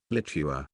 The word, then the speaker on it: Litua: The chronicle recorded a Latinized form of the name Lietuva, Litua, pronounced Litua.